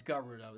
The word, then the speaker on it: Gerudo: It's not Gurudo, it's Garudo. That's this is how it is how it's pronounced officially if I remember correctly.